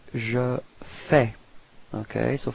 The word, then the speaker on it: fais: So first form for je, it's je fais. Okay, so final S is not pronounced.